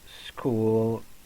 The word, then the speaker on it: school: everybody knows this words it's written by ch but pronounces school okay I repeat we